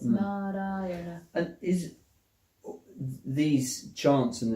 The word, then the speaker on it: Narayana: It's an expression in 5 syllables of the call of the human heart. 4 syllables. Narayana.